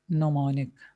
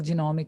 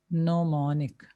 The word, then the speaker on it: mnemonic: In the mnemonic projection, there the G is silent. बहुत से लोग इसको G mnemonic भी कह देते हैं, but it's mnemonic. ठीक है, और जब I've seen over the years के इसको बहुत से लोग genomic भी कहते हैं.